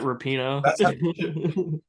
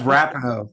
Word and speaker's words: Rapinoe: Isn't it Rapino? It's Rapinoe. That's all she deserves from me.